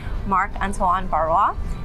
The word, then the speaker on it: Marc-Antoine Barrois: with our very special guest who's visiting today, Marc-Antoine Barrois, and this is such a pleasure. I hope I didn't mispronounce it.